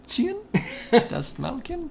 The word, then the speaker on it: Dastmalchian: David Dastmalchian? Dastmalchian? Good job. Good job. I would have butchered it way worse.